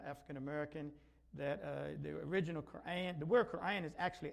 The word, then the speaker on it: Quran: And some get a little upset, they go to a bookstore, they see Koran, and then they're looking for Quran. So that is just to help us pronounce it correctly. Quran, to help us pronounce it correctly.